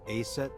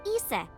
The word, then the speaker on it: Isis: Horus's mom is named Isis, but in ancient Egyptian, it's pronounced closer to Ise or Aset.